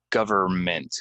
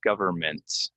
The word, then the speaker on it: government: Public public okay government get the N out of there government government again if you say